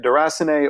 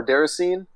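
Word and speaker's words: Déraciné: in the game well there's two different ways of pronouncing it duress an A or Dara scene which is another game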